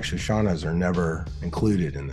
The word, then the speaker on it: Shoshana: long time uh Dr shashana grossbard uh but I don't know if I've pronounced your name right shash am I saying it correctly yeah yeah yeah okay well I've said